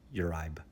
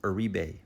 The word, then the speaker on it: Uribe: I would have said Yuribe or something. I don't know. It's It's Aribe. Aribe.